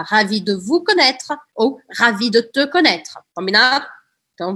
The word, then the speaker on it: ravi: E aí, ravi pode ou não ter um e no final. Se for, um e, se for masculino sem o e, a pronúncia é idêntica.